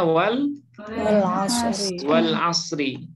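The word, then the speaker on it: وَالْعَصْرِ: Wal asri. Apa bacanya? Wal asri. Kenapa kita baca asri kasroh? Karena didahului oleh waw qasam.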